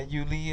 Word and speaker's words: Uly: is like your name I go by you legally yeah you Lee and hence my my